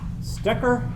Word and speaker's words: Stecker: So my name is Stecker.